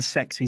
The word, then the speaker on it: CEX: I'm putting I'm saying sexy Zanie, right? Anyway, sexy Zanie. He's walking to CEX. He's pretty happy. Sex, if you will, is how it's pronounced on the advert, you know.